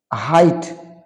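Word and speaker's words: height: তো এই সমস্ত শব্দগুলোতে GH later will be silent in the time of pronunciation.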